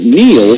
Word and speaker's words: Neil: It's no coincidence that Neil rhymes with deal, because that's something you could always count on with the leader in tires and auto repair for nearly a century.